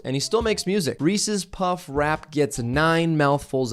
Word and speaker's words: Reese's: you were an idiot and you pronounced it reese's it's reese's like the name reese it's reese's peanut butter